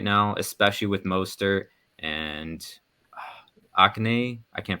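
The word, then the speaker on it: Achane: That offense seems unstoppable right now, especially with Mostert and Akane. I can't pronounce his name. Is that it? From A&M, I believe. Yeah, A-Chain? Yeah. A-Chain, something like that. A-Chain, yes. That's it.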